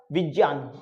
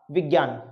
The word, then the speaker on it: विज्ञान: Because ये जो ग है, ये एक्चुअल में हम इसको प्रोनाउंस करते हैं गे, जबकि ये ग नहीं है। ये किसके योग से बनता है? ये इसके योग से बनता है और इसको बोलते हैं आई। ठीक है, तो इसका प्रोनाउंसिएशन क्या होता? विज्ञान। क्या बनेगा? विज्ञान, नॉट विज्ञान।